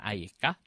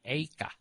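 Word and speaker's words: איכה: Eika, cuman dibacanya beda. Bukan Ayeka, tapi Eika.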